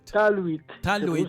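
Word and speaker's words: talwit: Teluit. Teluit. T-A-L-W-I-T. Teluit. T-A-L-W-I-T. Taluit. Tú sabes que la W, en inglés, la W es U. Una U, exacto, una semicolon. Sí. Taluit. Taluit es paz.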